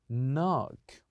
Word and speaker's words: knock: have have learned that we always keep the K the K silent so here the word will be knock knock say after me